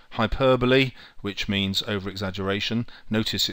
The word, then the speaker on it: hyperbole: all the persuasive writing techniques a alliteration H hyperbole which means ere exaggeration notice it spent spelled hyperball but pronounced hyperbole F is for facts uh a anecdote which